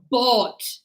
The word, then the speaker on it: bought: This one is br. You have the br like the bra. What is it? Bro, but this one's nothing. So, here is brought bought.